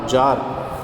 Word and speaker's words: czar: जार कौन होता है, रशिया के शासक को जार कहा जाता है, इसकी स्पेलिंग होती है CZAR, जार।